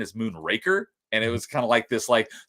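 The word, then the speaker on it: Moonraker: And then someone pointed out there's no n is moon raker.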